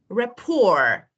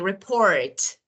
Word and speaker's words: rapport: is this we normally Rapport Rapport we don't say report Rapport or Christmas Christmas we don't